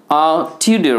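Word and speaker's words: Tudor: টিউডার হু টুডেড আ flute. এখানে টিউডারটাকে বলবেন টিউডা।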